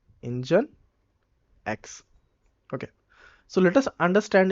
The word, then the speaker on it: Nginx: solution then they created engineext which is actually pronounced as engine x okay so let us